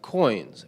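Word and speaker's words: Qoins: So up next, we have Coins. I pronounced that right? Yep, Coins with a Q.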